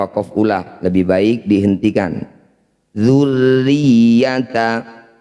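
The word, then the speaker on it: ذُرِّيَّةَ: Dzurriyyata, semua huruf yang bertanda tasydid kecuali nun dan mim cara bacanya harus ditekan atau dibaca kuat. Dzurriyyata, di sini tasydidnya ada 2, maka ditekannya juga 2 kali.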